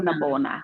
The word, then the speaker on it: Ntabona: You have to like roll the N. I still haven't mastered it. So is it Ntabona. Ntabona? Ntabona. So Ntabona. like if I'm on the phone, I'll just say Ntabona. That's how you say it for white folks, so they could.